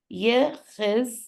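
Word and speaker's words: יחזקיהו: Yechizkiyahu, that's 5. And you see, Ye has its own syllable. Chiz, that's 2 letters that make already 1 syllable out of 2 letters.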